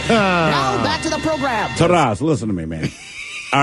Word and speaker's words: Taras: Taurus like the bull or like the car? I guess it was one and the same. It's spelled Taras. It's pronounced Taras. It's a Ukrainian name.